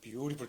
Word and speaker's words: beautiful: 이제 사전적인 발음인데 미국 사람들은 그 이제 트라는 자음, 그걸 단타음이라고 그러는데 그 트나드의 양쪽에 모음이 양쪽에 있으면 그 트를 리을 발음을 해.